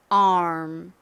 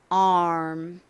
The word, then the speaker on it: arm: 그래서 암이라고 주로 표기를 하고요 실제 발음은 AR를 발음하는 상태에서 입을음 모양으로 만들어 줍니다 ARM ARM 이렇게요 바음 연습해 볼게요 팔 ARM ARM 오늘 단어들을 모두 복습해 봤으니 이제 쓰기 연습해보도록